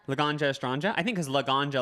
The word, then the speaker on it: Laganja: astronja i think because laganja like weed laganja i think it's like she's about weed or something oh because that's